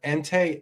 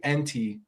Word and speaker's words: Entei: I think he called Or it's either him or Dan called Entei Entee. Oh, no. No.